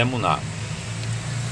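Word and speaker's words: אמונה: exemplo, fé, na língua hebraica, que é emuná, pronuncia emuná.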